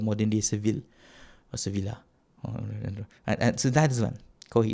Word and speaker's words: Sevilla: Sevilla, is it Seville or Sevilla? Sevilla. And back then it was called Ishbili. Now it's called modern day Seville or Sevilla.